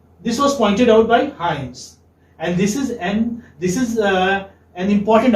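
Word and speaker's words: Hymes: This is pronounced as Hyams. Okay? How will you? Like, this is how. Hyams.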